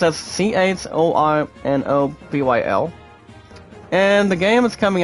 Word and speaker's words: Chornobyl: It's pronounced as CHORNOBYL.